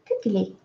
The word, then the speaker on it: Gugeli: I have to just Gugeli. As for, I'm saying Gugeli, it's Gugeli.